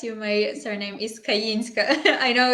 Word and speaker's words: Kayinska: and I will correct you my surname is kayinska I know it's difficult to pronounce but yeah it happens it's a beautiful